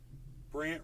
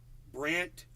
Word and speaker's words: Brandt: Brant Robinson. You should all be following at Brant Robinson. BRANDT Robinson. Brant Robinson. And Brant is spelled BRANDT. It's a weird spelling, Brant.